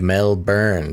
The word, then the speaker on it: Melbourne: Flippy Official mentions, Basil, we don't pronounce the O in Melbourne. It's more like Melbourne. So Melbourne.